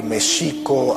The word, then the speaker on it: México: Tenochtitlan, les comentaba que Mexico, así es como se pronunciaba en el México prehispánico, la X no se pronunciaba ni J ni X, sino Sh. El acento estaba en la segunda sílaba, Mexico Tenochtitlan, no Tenochtitlan.